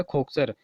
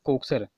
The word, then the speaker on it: खोकसर: देखो, इसकी प्रोनाउंसिएशन यहाँ पर दी गई है कोकसर। कई बार इसकी प्रोनाउंसिएशन जो है तो खोकसर दे दी जाती है, खोकसर। तो यहाँ पे आपको जो है तो कन्फ्यूज नहीं होना है, चाहे कोकसर दिया हो चाहे खोकसर दिया हो, ये एक ही बात है।